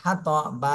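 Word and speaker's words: الحطب: কোনটা এখানে নেই এজন্য সাকিন দিয়ে পড়তে হবে আর সাকিন দিলে বা কলকলা হয়ে যাবে হাম্মা লাতাল হাতব প্রথমে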